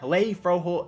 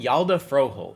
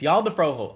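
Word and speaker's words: Hjalte Froholdt: Let's go ahead and actually get the correct pronunciation here, because it's not Halei. It's freaking Yalda Froholt. That's what it is. It's Yalda Froholt.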